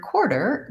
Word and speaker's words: quarter: are unstressed and shorter in the word quarter the stress is on the first syllable core and we hold that long and the second syllable der is short and reduced and in the dictionary